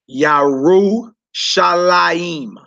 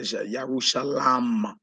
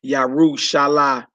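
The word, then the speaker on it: ירושלים: Some say Yarushalam. Yarushalam. But Yarushalaim. Yarushalaim. You wouldn't say Yarushalamim. You wouldn't say that. It's Yarushalaim. Usually is a yod in between the lamed and the mem right there. But Yerushalayim, Yerushalayim, Yerushalayim, Yerushalayim, Yerushalayim.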